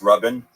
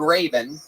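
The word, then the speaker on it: Rabin: Uh, it's pronounced Robin. Robin, but it's spelled R A B I N. So, it's spelled Raven. No, the A makes the same sound as the first syllable in amazing.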